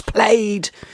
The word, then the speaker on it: plaid: debate again this year it's played it's spelt like braid um green trees that's